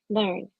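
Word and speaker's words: LE&RN: Learn. But when you look for it online, it's LERN is how they spell it. But we call it Learn.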